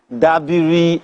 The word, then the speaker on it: Dabiri: Okay, I will pronounce them well. Honorable Madam Abike Dabiri Arewa.